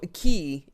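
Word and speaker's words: aquí: um you know so a key a-q-u-i there's an accent on the eye so you know that the i gets the emphasis so spanish is simple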